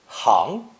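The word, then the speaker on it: 行: facilitate transportation and troop movements this character is pronounced one of two waves second tone referring to movement and second tone hang hang meaning the streets themselves the merchants and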